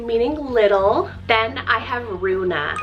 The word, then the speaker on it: Runa: Then I have Runa, spelled R-U-N-A, Runa.